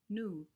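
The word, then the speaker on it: nu: A lot of times in Chaucer, that's written N-U, new. So N-U and C-O-W practically rhyme.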